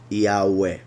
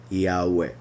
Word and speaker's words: Yahweh: So that would be the correct pronunciation. The right vowels would be I, A, U, E, Yahweh, Yahweh.